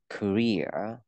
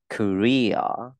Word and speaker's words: Korea: South Korea, Nam Hàn, Hàn Quốc ạ. Thì cái từ Korea, trọng âm rơi vào âm Ria, mình không đọc là Korea, mà đọc là Korea.